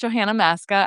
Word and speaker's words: Johanna Maska: Uh my my name is pronounced Johanna Masca.